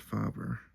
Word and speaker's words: Faber-Castell: So I know it's pronounced fabber, not fabber or fab. It's kind of like father.